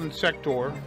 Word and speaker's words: Insector: So yeah, it is called Insector. Apparently I've been saying it wrong the entire time.